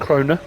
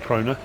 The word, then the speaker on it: Krone: the day as well i normally get grim all right grimmer and kroner because i spoke to the guys at fsl from grimmer and krona but the other one's